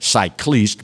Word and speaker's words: cycliste: So, after standing by the decision, Union Cycliste Internationale, I said cycliste because they spell it C-Y-C-L-I-S-T-E, the world governing body for international competitive cycling, decided, you know what, bruh, you can't race.